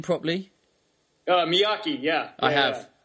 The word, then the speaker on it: Miyaki: second name properly uh Miaki yeah I have it's like Mr Miyagi but with a K instead of the G yeah um I I'd